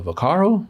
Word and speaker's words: Vaccaro: is right here guy named uh Sunny uh Vaccaro is how you say his name Sonny but yeah Sonny bacaro he's he was in charge of setting up